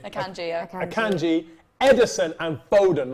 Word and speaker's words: Akanji: Akanji. Akanji, yeah.